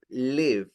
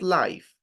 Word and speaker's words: live: First, I couldn't live, not life, because life is la vida. Live is vivir. Okay, it's an important distinction in the pronunciation.